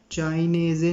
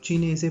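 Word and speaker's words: cinese: इसको चाइनेज़े नहीं पढ़ने आपने, इसको चीनेज़े पढ़ेंगे, ठीक है।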